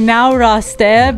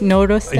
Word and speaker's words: Noreste: It's pronounced how it's written sometimes. It's like Noreste, but it's Noreste. You can't pass Shaya in the hallway and ask him then.